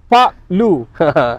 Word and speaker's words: Park Lu: Pronunciation kena betul. Pak Lu.